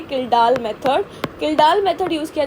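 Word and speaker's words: Kjeldahl: इसकी प्रोनाउंसिएशन है किल्डाल मेथड।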